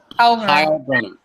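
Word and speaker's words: Heilbroner: Heilbronner.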